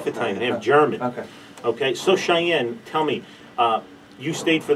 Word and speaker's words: Shyanne: It's not Now, how he pronounces things wrong. Shyanne.